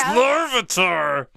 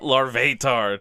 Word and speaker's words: Larvitar: It's Larvitar! It's not Larvatar. Don't say it like that.